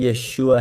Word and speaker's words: Yeshu: That's why the name Yeshua was unpronounceable for a Galilean and that's why they said Yeshu.